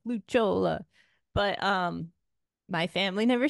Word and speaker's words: Lucciola: so no I know the correct is like luch Chola but um my family never said it like